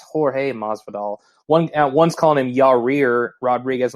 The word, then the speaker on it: Jorge Masvidal: I think I keep hearing other podcasts call him George Masvidal, like it's Jorge Masvidal.